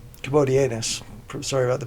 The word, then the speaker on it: Commodianus: Antichrist so again they according to according to commodius commodianus sorry about the pronunciation there commodianus uh those persons will also overcame they overcame